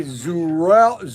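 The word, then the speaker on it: Azrul: it's a-z-r-u-l a-z-r-u-l so you don't pronounce the a so it's probably zurel zurell is it zurel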